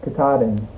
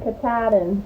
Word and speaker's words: Katahdin: Katahdin. The K. Katahdin.